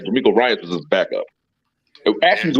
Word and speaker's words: DeMeco Ryans: Sean Payton and Denver Broncos have agreed after they couldn't get how you pronounce his name? So I don't fuck this up again. DeMeco Ryans. DeMeco Ryans, man.